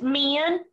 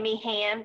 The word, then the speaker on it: Meehan: Pretty much, it's Meehan. It's like me in. I always just say Meehan because it makes my husband mad.